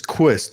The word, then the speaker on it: Quist: And your last name is Quist. Am I correct? Is that how you pronounce it?